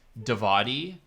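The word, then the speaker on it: Djawadi: It's pronounced Davadi, Ramin Davadi, according to Wikipedia. So that's what I'm going to go with. Ramin Davadi's an awesome composer.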